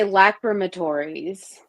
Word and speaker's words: lacrimatories: I would say lacrimatories.